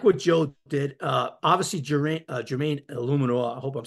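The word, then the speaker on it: Eluemunor: Obviously, Jermaine Illuminor, I hope I'm saying that right.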